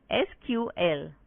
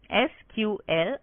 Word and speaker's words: SQL: SQL structured query language SQL pronounced as SQL or sometimes SQL is the standard user